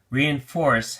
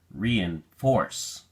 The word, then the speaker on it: reinforce: at the flash card reinforce has three syllables and the emphasis is on the third syllable so we say reinforce reinforce be sure you pronounce